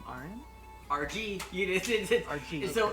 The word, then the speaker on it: Argee: Argee. So it's I spelled it Argee Minecraft. or Argi, but it's literally just the pronunciation of my screen name's initials.